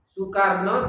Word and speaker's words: Soekarno: Kemudian kalau Soekarno tulisannya Soekarno, Soeharto juga gitu, Soeharto. Itu ejaan lama, bacanya tetap Su, bukan Soe bacanya.